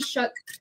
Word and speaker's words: Shutz: my beautiful authors, Shutz. How are you? I'm very good. How are you? Good, thank you. I'm pretty sure I just pronounced your last name wrong again. It's Shut. Shut, yes.